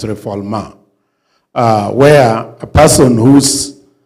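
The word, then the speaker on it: refoulement: So I I in in refugeilo there is uh a doctrine of nonreformulma that's a French word people pronounce is reulment but it's reformulma uh where a person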